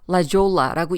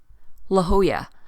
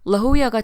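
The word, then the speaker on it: La Jolla: 특히 J가 스페인어에서는 H로 발음이 되고 double L이 Y 발음되기 때문에 스페니쉬 단어에 익숙하지 않은 사람들은 이게 잘못 발음하기가 쉽습니다.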